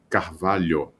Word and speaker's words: Carvalho: Carvalho, this lyo could be a little bit difficult.